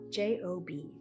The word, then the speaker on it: Job: well first of all it's spelled like job j o b but not pronounced the same it's pronounced job yep